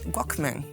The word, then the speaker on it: Walkman: Bueno, que sabes que pronunciado ben non é Wallman. Como é? Que nos falamos mal, nós todos. Como é? Dixerme un día, a profesora de inglés dixome que Wallman, eso de Wallman, é Walkman, ou algo así.